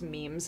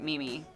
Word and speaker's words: meme: But so I had never when I heard it later, I heard meme. But anyway, sorry, go ahead. So I was telling everybody that when I was in college, everyone pronounced it Mimi when like the term became like popularized.